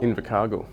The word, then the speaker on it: Invercargill: In his first year as an RN, he headed to New Zealand to work in the, how do you pronounce it, Invercargill Hospital? Invercargill.